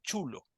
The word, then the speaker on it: xolo: comía en México sí que se llama el chulo se escribe xql o s chulo porque de hecho